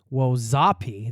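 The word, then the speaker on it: wojapi: Of course, you can also try Native American food staples like Indian tacos, fried bread, and a tasty fruit sauce/jam called wo zapi. That's spelled wo j a pi.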